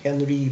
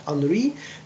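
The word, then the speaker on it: Henri: and uh this man Henry fayol it is pronounced not Henry but Henry because he was French he manages managed a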